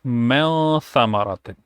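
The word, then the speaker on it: مِنْ ثَمَرَةٍ: Like when you see the whole thing together, it sounds mel thamaratin. So now it's not men anymore, it's mel, like you pronounce it with a hidden sound.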